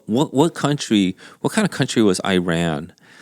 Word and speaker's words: Iran: It's complex, and Iran, again, the way you pronounced it, I believe, is the Iran. The way they pronounce it. Yeah, It's yeah. Iran, right? And then Iran, I believe, started to be pronounced Iran once I think Obama came into president. It became really mainstream then, but before that, everybody just called it Iran.